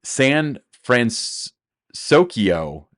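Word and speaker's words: San Fransokyo: um so Disneyland is going to be debuting sand France sokyo is how they're pronouncing it uh France and San Francisco Square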